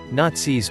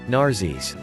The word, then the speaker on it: Nazis: a little bit intentional he could never pronounce the word nazis properly instead saying narses on the 24th of